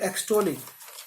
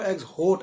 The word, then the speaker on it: exhort: मैंने पहले आपको एक्सहोट ऐसे करके बोला ताकि उसकी स्पेलिंग समझ में आए, पर इसको बोलेंगे एक्सोट, EXHORT, एक्सोट। तो वो जो ह की साउंड है वो दबी हुई होगी, एक्सोट।